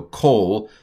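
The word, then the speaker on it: כל: So kol, this is a kamatz katuf. It's an O. It's just an O without a long mark. It's a regular O. How do I know that? Because kol normally has a long O.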